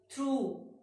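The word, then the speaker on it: through: थ्रू, जी H silent.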